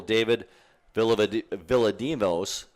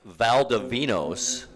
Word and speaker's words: Valdivinos: We're talking one of the tackles, either Brennan Cornell or the other tackle, David Villadimos. I think I pronounced that wrong. Valdivinos. There we go.